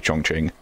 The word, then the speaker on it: Chongqing: Most notable example being Chongqing in Hitman 3, which the game mispronounces. And I feel like in that case, I am correcting the game whenever I speak of Chongqing. I personally pronounce it Chongqing because I happened to look it up at some point and learned that, hey, the game does it wrong and it should be Chongqing.